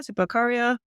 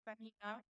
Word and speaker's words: Zipaquirá: Zipacaria? I'm pronouncing it wrong. Um, good try. Okay. It's Paquita out about an hour to an hour and a half.